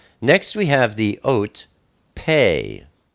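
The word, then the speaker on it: פא: Next we have the ot, pei. Pei is the number 80, and it's pronounced P, like Peter, or sometimes it's pronounced like an F, like Philip.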